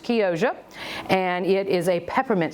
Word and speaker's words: Chioggia: It is actually spelled C-H-I-O-G-G-A, but I was corrected by a young lady at the farmer's market who said it's pronounced Chioggia, and it is a peppermint striped beet.